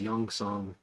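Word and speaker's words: Gyeongseong: but it's uh it's a korean-made show called youngsung creature and youngsung is spelled with a G it's like G yeu if you search G ye you'll probably find it on Netflix but it's it's pronounced youngsong creature and it is just a really good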